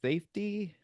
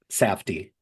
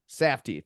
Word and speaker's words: Safdie: I don't know how to pronounce these guys' names. It's Safety? Safdie. Safdie.